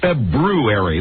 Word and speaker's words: February: So all the years I've been saying February, that's not correct. February. You have to put you actually have to put the R in there.